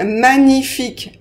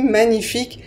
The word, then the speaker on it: magnifique: à ni par exemple magnifique magnifique on prononce comme si on avait n i magnifique et pas de G donc on n pas